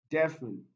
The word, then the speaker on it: definite: on the second syllable definite this one is stressed on the first syllable so we have option